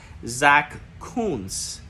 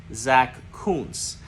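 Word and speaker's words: Zack Kuntz: round seven pick 220 Zach Coons get that right let's say it again Zach Coons there's some Jets podcasters out there that are pronouncing it a different very inappropriate way but that's how you say it Zach Coons tight end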